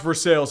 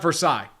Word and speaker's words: Versailles: It's pronounced Versailles here. It's not Versailles. It is Versailles.